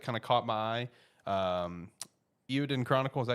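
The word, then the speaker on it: Eiyuden Chronicle: Eowyn Chronicle, is that how you pronounce it?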